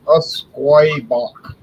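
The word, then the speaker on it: Usquaebach: I've never heard of Usquoy Bach. Usquoy.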